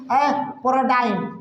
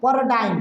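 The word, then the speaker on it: paradigm: जैसे इसको हम क्या पढ़ेंगे, पैराडाइम, यहाँ पर जी आपका क्या है, तो साइलेंट है। इसको क्या पढ़ेंगे, पैराडाइम, तो यहाँ पर जी आपका क्या है, साइलेंट है। क्यों साइलेंट है, क्योंकि इसके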